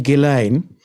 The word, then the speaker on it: Ghislaine: Well, Maxwell disappeared off the back of his yacht, named after his youngest daughter and favorite child, the Lady Ghislaine, in the early hours of the 5th of November, 1991.